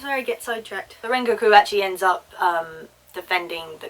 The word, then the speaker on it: Rengoku: So it's Rengoku. Okay, I'm going to try and keep... And again, I've lost my train of thought. This is where I get sidetracked. The Rengoku actually ends up defending the car while Tanjiro